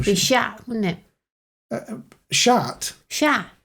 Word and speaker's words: chat: Chat. You don't pronounce the T.